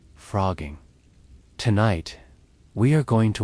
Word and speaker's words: phrogging: Frogging sounds like a joke when you first hear it. It is spelled with a ph instead of an f, like some underground hacker term.